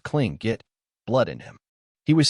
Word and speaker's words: Tlingit: first nation's man who had Tlingit pronounced cling get blood in him he